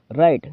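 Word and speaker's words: write: रखना अगला देखते है राइट राइट का मतलब होता है लिखना राइट रोट रिटन इसमें डब्ल्यू साइलेंट होता है याद रखना स्पीक स्पीक का मतलब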